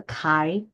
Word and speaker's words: chi: CHI, we pronounce as a chi, okay, chi-square distribution. Okay.